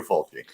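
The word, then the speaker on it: Fulci: he was like well usually you have the double c in italian to make it a cha and i said oh my god have we been saying lucio folgi's name wrong all this time but then i went and researched it and like no no we have not it is lucio faulty well and on top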